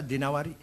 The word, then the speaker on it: Ad-Dinawari: Al-Imam Asy'ari bin Qutaibah Ad-Dinawari. Jangan Ad-Dainuri bacanya, Dinawari. Jangan Ad-Dainuri, enggak ada kota Dainur, ada Dinawar.